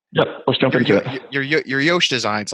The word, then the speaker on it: Yosh: a different pronunciation so my name is josh so like the way i used to pronounce it was like yosh so it's like you know but just spelled yosh i don't know it's